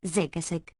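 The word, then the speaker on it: Zagazig: synodontist shell citizen its plural form zakazik pronounced zigasig gave a name to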